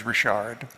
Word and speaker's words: Richard: were ony and Maurice Rashard G laflor Jac leant and Jean Bello uh by the way my wife's my wife's last name for we married is rishard from the French Richards I used to refer